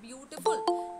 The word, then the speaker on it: beautiful: But we don't have so many vowel sounds in the word beautiful. Now the first B, E, A, U, we pronounce as bu.